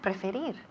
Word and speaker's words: prefer: Okay, and finally we have preferir. To prefer. Perfect. Muy bien. Repeat again. To prefer. Perfect. Eso es. To prefer. To prefer. Y el acento recae en la segunda sílaba.